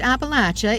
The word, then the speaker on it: Appalachia: This is Appalachia, or pronounced Appalachia if your kin live here, known for its natural beauty, its hollers, and its struggles.